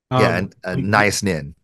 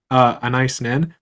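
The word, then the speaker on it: Anaïs Nin: There's a quote from your book, and it's Anise Nin, if I'm saying it right. Nice Nin. Thank you. Anise Nin.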